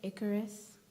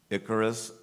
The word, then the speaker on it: Icarus: I saying it right Icarus correct l i c o r i c e incorrect contestant number 93 atherf your word has two correct pronunciations Icarus Icarus Icarus can you use